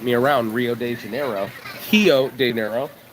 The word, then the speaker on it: Rio de Janeiro: Hio diero. You got to say it right. It's a hiver, not a river.